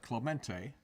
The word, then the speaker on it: Clemente: You pronounce that Clemente.